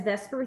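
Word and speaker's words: VSEPR: do say this as Vesper Theory that's often how it's said although it's that's kind of weird because you think that e would go first but it doesn't but they do say Vesper Theory all right so here's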